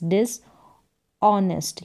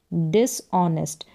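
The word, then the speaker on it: dishonest: डिस डी आई एस डिस ऑनेस्ट यहां पर एच जो है वह साइलेंट है ओ से हम पढ़ेंगे ऑनेस्ट डिस ऑनेस्ट एच लिखा जाएगा लेकिन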